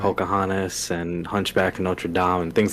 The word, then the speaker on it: Notre Dame: so you just said Hunchback of Notre Dame, which is probably the correct way to say it, but I say Hunchback of Notre Dame, and I think that's because of college football, and my wife makes